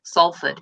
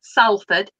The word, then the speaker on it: Salford: there and i've got it's salford it's not salford so it was nice